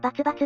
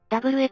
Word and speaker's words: XX: WX、バツバツって読むの。 WX だな、6 気筒の大き